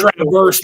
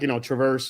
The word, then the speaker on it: Traverse: It's Traverse, man. I got blown up for that. What? Yeah. Traverse It's City. Traverse. Traverse. Okay. I've heard it like Traverse or Traverse, but Traverse No, sounds.